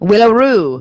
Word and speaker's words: Willaroo: Oh, what's Willaroo? Willaroo is about a surfer lifestyle. What's it? How do you spell it? WILLA, like Will. A. Rue, R-U-E, like the road. Willaroo.